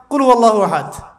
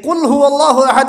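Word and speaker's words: قل هو الله أحد: আল্লাহু আহাদ মানে কি এটা উচ্চারণই বা কেমন করে করতে হয় কুল বলুন হু আল্লাহু আহাদ তিনি আল্লাহ এক এই যে কুলহু আল্লাহু আহাদ অনেকেই বলতে পারে না কুলহু আল্লাহ কুলহু আল্লাহু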